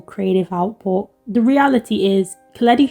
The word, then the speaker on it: Koletti: Behind all the headlines, criticism and unusual creative output, the reality is Koletti, who rhymes with spaghetti, was or still, I